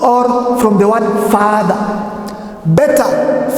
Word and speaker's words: beta: Beta from the word bed.